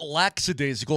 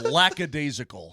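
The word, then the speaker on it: lackadaisical: laad by the way it's not laxidasical it's lacad laca there's no s I say la la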